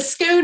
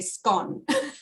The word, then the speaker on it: scone: Yeah, the scone is I think it's the American pronunciation, because back in Australia we say scone. Yeah, it's in Britain, it's weird. Different parts of the country say it differently. Like some people say scone, some